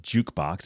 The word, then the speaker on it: JKBX: You've got this new endeavor called Jukebox. It's spelled JKBX.